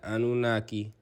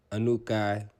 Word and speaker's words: Anunnaki: That's the same as the Anunnaki, Anukai. It's pronounced many different ways.